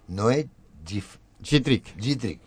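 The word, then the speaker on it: Noé Jitrik: Prólogo de Noé Gittrick. Así se pronuncia.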